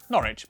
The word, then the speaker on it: Norwich: W at the start of the final syllable is silent. Norwich, beric, soduk.